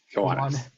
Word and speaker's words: Kiwanis: He served as president at a Kiwanese chapter. Did I pronounce that correctly? Kiwanis.